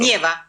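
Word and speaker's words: Нева: ¿Cómo se dice Neva, el río en ruso? Nieva. Ah, Nieva, ok, perfecto.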